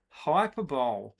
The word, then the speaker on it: hyperbole: Oh, it's pronounced hyperbole. Yeah, hyperbole, hyperbole.